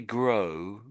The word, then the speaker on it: grow: Um, see, um, I would say those two letters together, the G, the O and the W, make this sort of an O sound. O.